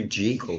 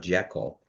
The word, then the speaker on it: Jekyll: Hyde, he mentioned that everyone's mispronouncing it. It's Dr. Jekyll, not Jekyll.